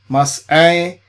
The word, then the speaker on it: Massei: Ain. So we try to pronounce it Ain, Massei.